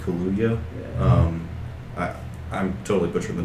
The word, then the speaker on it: Kaluuya: And the actor Daniel, I think it's pronounced Kaluuya.